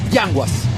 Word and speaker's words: Yanguas: Yanguas. Yanguas. Yeah, okay. Because the S is with S, it's not sh. No sh. Yanguas.